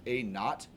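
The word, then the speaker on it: A₀: Instead of P, I just wrote A sub 0, which this is pronounced A naught.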